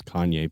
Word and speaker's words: cayenne: a while I there I thought it was Kanye pepper but I got corrected on that we accept that pronunciation as well anyway I don't mean